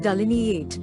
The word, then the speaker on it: delineate: ignorance impoliteness non-compliance delineate though you pronounce it delineate there is a line in the middle of delineate this might help you